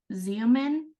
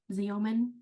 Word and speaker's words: Xeomin: But it's called Xeomin, Xeomin, Xeomin. So I'm pretty sure that we looked at the Yeah. pronunciation, but it's pronounced with a Z.